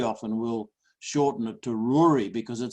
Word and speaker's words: Rory: to the gallic ruri they say Rory as in Brewery that's how you pronounce